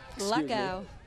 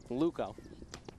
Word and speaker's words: Luco: Lockow. And check that, it's Lou. So I've been wrong this whole time. Luco.